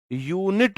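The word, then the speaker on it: unit: यूनिट में य है ना, य, यूनिट या के साथ आ आएगा, यूनिट, यूनिट। तो पहला मेरे मुंह से या निकला है, या के साथ तो एक वॉवल नहीं है, कॉन्सोनेंट, आ ही आएगा।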